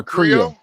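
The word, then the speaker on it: Krio: It's like No, it's K R I O. It's a um It's like a French slang. That's what they speak all over. Yeah. Creo, but it's not C R E O. It's spelled K I O.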